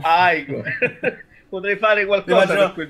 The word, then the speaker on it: Igor: Si pronuncia Igor, ricordalo. Igor.